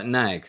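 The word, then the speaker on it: Gnaag: third law Stone um gunag rhymes with snag yeah yeah so good gnag gnag like now like to nag someone oh to nag okay so uh nag okay all right the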